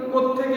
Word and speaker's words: কোত্থেকে: যে কোথা থেকে এসেছো, আসলে কোথা থেকে কথাটাই হচ্ছে কি দ্রুত উচ্চারণ করতে গিয়ে আমরা থয়ের সঙ্গে সংযুক্ত করে দিই, অর্থাৎ দুটো থ ব্যবহার করি একসঙ্গে।